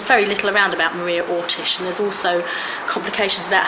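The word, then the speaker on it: Oršić: little around about Maria Ortish, and there's also complications about how her name is spelt. A lot of people spell it Orsic, O-R-S-I-C. I don't believe it was that. I believe it was Ortish.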